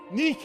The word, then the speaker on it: Nike: one you you you pronounce it Nike that's your English way of saying it Nik Victory the the Greeks